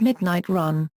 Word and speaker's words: 12AM RUN: In May 2013, it was announced that Nas will open a sneaker store in Las Vegas called 12 AM Run, pronounced Midnight Run, as part of the LINQ retail development.